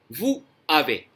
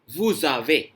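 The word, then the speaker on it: vous avez: लेकिन बोलते टाइम आप वू आवे, अगर दो वर्ड्स अलग अलग प्रोनाउंस किए हैं आपने तो कहेंगे आप वू आवे, लेकिन जब आप फ्लो में बोलेंगे इकट्ठा बोलना पड़ेगा इनको, वूजावे, इस तरह से।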